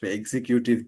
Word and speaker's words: executive: way in Bangladesh but native English speaker they don't say executive they say executive exe executive. So, exe executive syllable. So, they're stressing the the the second syllable.